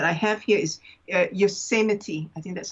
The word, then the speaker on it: Yosemite: the one that i have here is uh yosemite i think that's how it's pronounced yes that's right in the u.s yosemite and also um the spirit of water oh